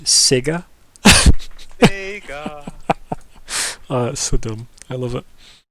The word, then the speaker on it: Sega: into playing sega and nintendo i was it's pronounced sega so dumb i love it i'm a gallery